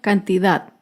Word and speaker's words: cantidad: tilde es la palabra cantidad. Cantidad se acentúa en la última sílaba, pero no lleva tilde porque no termina ni en vocal ni en las consonantes N o S.